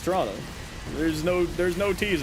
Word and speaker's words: Toronto: It's uh it's a bit snowy out here in Y old Toronto. You can always tell who's actually from Toronto because we don't necessarily we don't pronounce the T's.